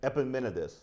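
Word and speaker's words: Epimenides: he's quoting uh epimedes if I pronounce it pronounce it epimenidis I had it right when I practiced this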